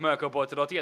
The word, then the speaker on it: Mirko Bortolotti: Rafael Renhofer takes a massive step back ahead of Mirko Bortolotti, as I finally learned how to pronounce that.